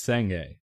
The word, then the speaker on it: Sange: Why is this pronounced Clove and that pronounced Sange? Why isn't it Clove and Sang, or Sange and Clove? The G makes it the long E sound.